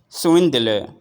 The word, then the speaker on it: swindler: do s s swind here we have four different sounds you have S and then win and then the and finally l s when the l s wind theer swind swindler try to say it in this way treasurous treasurous treasurous treasurous